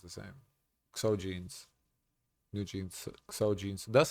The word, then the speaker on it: XOGEANS: I mean jeans with the G instead of J is pronounced the same way though.